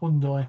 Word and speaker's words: Hyundai: little guy from ireland hyundai that's it that's how you pronounce it out there hyundai right okay that's how they practice in korea by the way and i've been to